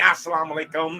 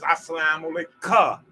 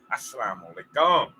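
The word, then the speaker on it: as-salamu alayka: me I salaam alaikum it ain't assalamualaikum is assalamualaika k-a-h you're greeting one person now if you was reading a convocation or audience then yes it will be pronounced as assalamualaikum that's a true man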